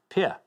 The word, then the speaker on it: Pierre: Pierre, they actually pronounce it because you know what Americans are like with French words. Pierre. Yeah, Pierre.